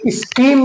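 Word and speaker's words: scheme: ऐसे ही हमारा सी के बाद स्कीम में देख लीजिए, स्कीम नहीं बोलेंगे, स्कीम बोलेंगे क्योंकि हमारा सी के बाद एच आया है तो हमारा एच जो है साइलेंट हो जाएगा तो हम स्कीम पढ़ेंगे।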